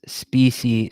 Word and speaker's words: Speecy: Speecy pronounces the word spicy as he does his own first name, Speecy.